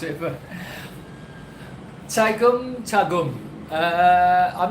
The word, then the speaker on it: Tagum: Tegum, okay, Tegum. I've not been to Tegum. How do you pronounce it? Well, you can't tell me how you pronounce it, but... Tagum.